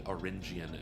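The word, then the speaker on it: Auringian: This is a battle in cycle 2-7 between the Cloud Kingdom and the Oringian Empire.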